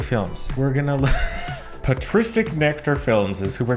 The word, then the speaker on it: patristic: embarrassing okay say it with me pet p patristic patristic patristic NE nectar films we're going to look patristic nectar films is who we're going to have